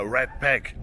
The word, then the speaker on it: Ratpack: Leute, freut euch auf das Viersche Redback oder Redback ausgesprochen.